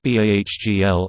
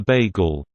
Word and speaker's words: bagel: in upstate New York, I met a girl who pronounced the word bagel as bahgl, as in, the first part of the word was bag, like a shopping bag or a handbag. It's a bagel.